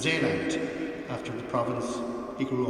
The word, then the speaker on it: Zeeland: The first boat Dad bought was a catamaran, which he called Zeeland, or pronounced Zeeland, after the province he grew up with in Holland.